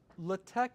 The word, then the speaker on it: LaTeX: VM and shoved it in a uh Latte is a a whole platform of its own.